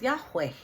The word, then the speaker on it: Yahweh: So, most Greek agree the closer pronunciation is Yahweh, right?